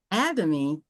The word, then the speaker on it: Atomy: How do Uh, I pronounce it again? Atomy? Atomy. Atomy.